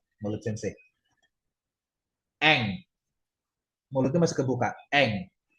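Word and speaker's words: 先生: Ini sensei, semse, atau sengse? Ini Sensei. sensei.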